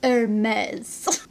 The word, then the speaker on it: Hermès: first mermaid hermes hermes air maze how do you say it hermes that's how you say it guys hermes i looked it up so we're gonna talk